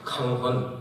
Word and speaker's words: 강헌: 하고 발음합니다 강 강 그래서 제 이름을 이렇게 써 놓으면은 편안 강자에서 법를 써놓으면 한국에서 그 글자 보고서 다르게 읽는 사람 없습니다 뭐라고 읽습니까 한국 사람이 발음을 일본 사람들이 강 그렇게 안 하지 않습니까 강헌 딱 읽습니다 그 일본에 오면 이게